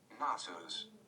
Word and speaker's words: Knossos: But I have Gnosis up, so I think let's hear the pronunciation before let's turn the volume down. Knossos.